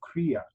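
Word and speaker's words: क्रिया: he's right behind me kreeya huh I stand corrected there was one high note and I have it written on my slide here it's all over the first syllable of Korea Korea huh all right so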